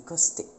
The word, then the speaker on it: costé: prononçait surtout les S, donc on disait pas forêt mais forest, pas hôtel mais hostel, pas bâton mais baston, et pas côte mais costé.